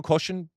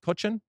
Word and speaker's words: Kochen: don't know much about Diego koshin coachin is that how we're going to pronounce it yeah that's good that's good enough uh if he makes